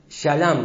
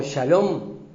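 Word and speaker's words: שָׁלֵם: él la palabra perfecto en el original se dice shalam vieron como shalom peroo acá significa se se escribe shalam Qué significa maduro cabal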